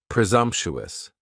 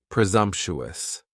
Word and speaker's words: presumptuous: Next is presumptuous, and presumptuous has 4 syllables, and the stress is on that second syllable, and the S almost sounds a little more like a Z. Presumptuous, presumptuous.